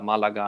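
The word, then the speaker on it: Málaga: But Richard knows in the south, Cordoba, Sevilla, Malaga, and all these places. This is the Spanish pronunciation, by the way.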